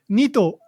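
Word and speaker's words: 二兎: nua ito o okay so nito that's two rabbits it's counting it's using the counter to for rabbits but not toe the long toe it's a short toe um the long toe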